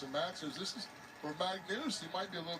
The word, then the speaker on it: Magnus: It's spelled M-A-G-N-U-S, which I say Magnus, but they're saying Magnus like it's got 2 O's in it or something. Anyway.